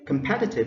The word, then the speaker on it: competitive: next word is competitive competitive so competitive is stress on the second syllable so is a compact